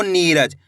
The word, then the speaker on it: नीरज: नीरज कैसे पढ़ेंगे नीरज इसी तरीके से खींच के पढ़ना है आपको नीरज नी पे जोर लगाना है ऐसे नहीं पढ़ना है नीरज कैसे पढ़ेंगे नीरज अगर दोस्तों आप बड़ी ई की मात्रा का उच्चारण खींच के करोगे तभी जाके बड़ी ई की मात्रा का सही से उच्चारण हो पाएगा एक बार फिर से